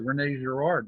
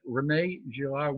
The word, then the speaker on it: René Girard: And Girard, René, it's interesting because when I speak with audiences, sometimes they'll say René Girard to use the French pronunciation, and sometimes they'll say René Girard, which is how the English would pronounce it.